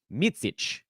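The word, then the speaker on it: Micić: Vasilije If you listen to him say it, he says it so fast that it just sounds like Vasile. The slow version is Vasilije. Last name is Micic.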